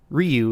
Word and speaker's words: Ryu: this but hyun-jin ryu ryu is how you pronounce his name but i've always call him ryu he's on pace for